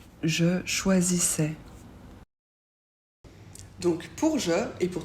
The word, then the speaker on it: choisissais: l'imparfait a i s attention a I on prononce e et on ne prononce pas le S je choisissais tu choisissais